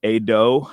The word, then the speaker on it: Ado: Cedar Park Center, and I believe it's pronounced Ado. I was looking at it online; it's spelled Ado.